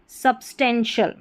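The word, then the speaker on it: substantial: फिर है सब्सटेंशियल। सब्सटेंशियल तो टी आई एल को शल पढ़ा।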